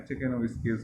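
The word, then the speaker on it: Czekanowskiales: पेंटोजाइलेल्स, सातवां ऑर्डर चेकेनोविस्किएल्स, सी यहाँ पर साइलेंट होता है, चेकेनोविस्किएल्स बोलते हैं, जैसे चेकोस्लोवाकिया बोलते हैं उसी तरीके से।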